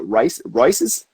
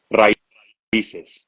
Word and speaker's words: Raíces: Is it Rices? Raíces. Rices. Okay. All right. I wanted to Raíces. make sure I wasn't completely fucking that up.